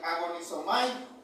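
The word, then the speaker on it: ἀγωνίζομαι: Verad, en el griego esta palabra este se pronuncia agon agonisomay, es decir, hermanos, es una lucha desgastante, una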